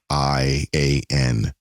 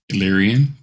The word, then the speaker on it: Illyrian: coming out with a comic book called The Illyrian Enigma. Patrick, did I pronounce that? Illyrian. Illyrian?